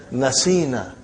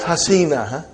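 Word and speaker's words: نسينا: So how will you pronounce now, brother? You will pronounce as nasina. Not hasina. Nasina.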